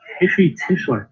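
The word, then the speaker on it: Heshy Tischler: I believe that's Hishi Tischler.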